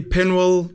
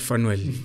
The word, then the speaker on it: Penuel: So you can say Penuel, Penuel. Yeah. Penuel. I don't know. Or Fenuel. Not Fenuel.